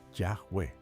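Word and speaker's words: Yahweh: El consenso actual es que la pronunciación más probable del tetragrama es Yahweu. En español suena parecido a y a B con h aspirada leve.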